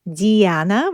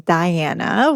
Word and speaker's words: Diana: the name, you know, my pronunciation is more of like Eastern European, that's who I am. So, it's Diana, which is, you know, the goddess of hunting. But, of course, in more like English speak it's Diana, which is, you know, Princess Diana and the warrior princess as well.